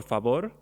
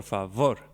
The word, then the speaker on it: favor: will say si por favor whereas in judo Spanish is si por favor it's a fricative v so the pronunciation is different even though the spelling is the same so here are some